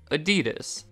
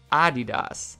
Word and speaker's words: Adidas: pronounce it like this adidas moving the emphasis to the first syllable and i have to